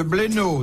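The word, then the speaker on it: Bléneau: De Madame Fouché de Blénaud dans l'Yonne. Bien, oui. Oui. Ça s'écrit B-L-E-N-E-A-U.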